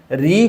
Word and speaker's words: ऋ: ही सुनाई देती है फिर से देखते हैं री यानी री का जब हम उच्चारण करते हैं सतत रूप से उच्चारण करेंगे तो प्रारंभ में तो हमको र सुनाई देगा लेकिन बाद में जाकर के सुनाई देता है इसीलिए उच्चारण के आधार पर हिंदी के विद्वानों ने ऋ को स्वर नहीं माना है ऋ को स्वर नहीं माना है बल्कि उन्होंने ऋ के उच्चारण को र और ई का संयुक्त रूप माना है अब इतनी बात समझ